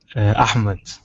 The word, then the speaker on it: Ahmed: Ahmed. I can't do the H. The Arabic H is too difficult for me. Yeah. Ahmed.